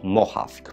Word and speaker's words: Mohawk: Pisze się to Mohawk przez samo H.